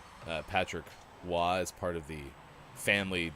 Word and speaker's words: Roy: at us and goes no it's patrick roy so we like walked away like we won which there's no way you would know yeah for sure i mean look at it it's spelled roy uh no confirmation whether